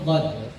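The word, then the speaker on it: ض: Itu pengucapan huruf dadd. Nah, jadi bukan huruf dal, bukan juga huruf d.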